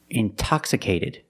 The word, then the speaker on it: intoxicated: or words like intensive intoxicated we have the stress after the NT we pronounce the T like a pure T TT release the sound